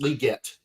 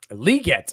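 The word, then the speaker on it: Legette: been pronouncing it wrong the whole time it's pronounced liette liette okay liet apparently there's an extra e in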